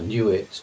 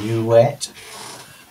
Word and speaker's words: Nuit: issue of a goddess knew it or sometimes well new it nuui t is a kind of uh Victorian way of pronouncing it could be new a new wet uh usually kind of transliterated as nwt just to make it